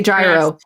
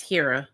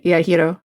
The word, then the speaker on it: gyro: Yo, yes, I have been told that's how it's pronounced. Don't say don't say gyro. Yeah, it's hero. Yeah, hero.